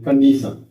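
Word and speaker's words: condition: की कन डी सन ये टी है इसका उच्चारण स हो कंडीशन ऐसे य इंटेंशन और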